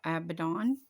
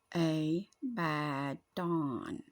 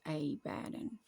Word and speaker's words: Abaddon: call in by uh some of y'all pronounce it uh Abaddon but the true pronunciation is a button a bad Dawn and yes I see how you would get AB uh Dawn from that but that is not how it's pronounced it's a badon or I a polygon